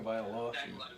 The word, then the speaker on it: Tagovailoa: I don't know how to pronounce it Tua correctly. Tagovailoa.